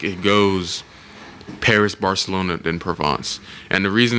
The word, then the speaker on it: Provence: to call i used to pronounce it uh providence but it's pronounced provence um but it's like it's it's very similar